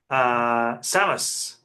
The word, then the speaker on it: Samus: We at the start of the game, Samus Aran. Apparently, that is how it's pronounced.